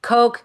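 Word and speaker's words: Koch: I use Coke, which is spelled K O C H. Coke. Coke uses the broader latitude.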